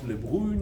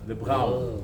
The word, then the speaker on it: Le Brun: Not Le Brun, not Le Brun. Le Brun. Because it's a Dutch name.